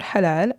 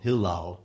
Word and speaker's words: halal: Now, in general, a food is considered halal unless it's specifically prohibited by the Quran. And many of us will mispronounce it, obviously, and call it hilal. Hilal, yeah, it's halal, Halal.